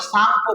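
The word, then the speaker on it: Tsangpo: ब्रह्मपुत्र नदी को तिब्बत में सांगपो कहते हैं टी एस ए एन जी पीओ यहां पर टी साइलेंट रहता है क्योंकि ऐसे पहले आ गया दुनिया में सर्वाधिक नामों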